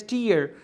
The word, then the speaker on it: tier: T-I-E-R is pronounced as tier.